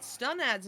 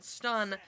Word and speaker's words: Stunad: chat telling us that Stunad's name is pronounced Stun, not Stoon, and that is the most trustworthy username I've ever seen, so I will choose to believe it, and it is now Stunad.